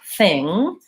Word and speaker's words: thing: actually no it doesn't so the sound in the word thing doesn't have a G sound and one of the